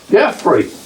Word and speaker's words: Jeffrey: said to me, "Hi, Jeffrey." That's the Swedish way Jeffrey is pronounced because there's no J in the Swedish language.